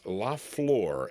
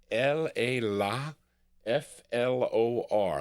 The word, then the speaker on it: La Flor: La Flor, F-L-O.